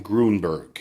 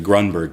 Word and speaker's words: Grunberg: He pronounced my last name Grunberg. It's actually Grunberg, but you know what?